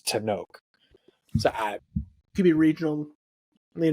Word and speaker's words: Tenoch: No, it's a very Mexican last name, and I've been saying Tinoch with the ch sound. So, and I think that's how they say it in the movie too.